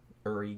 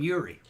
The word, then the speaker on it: Uri: by quite a large margin was good old Uri Geller. I've always said Uri Geller, but that's not right. It's actually Uri. Yeah, they wouldn't say that in America at that time. They called him Uri.